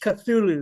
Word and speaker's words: Cthulhu: Now, it's it's pronounced Cthulhu because it's t it's taken from Lovecraft's novel.